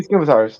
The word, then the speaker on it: scimitar: Then I have two scimitars.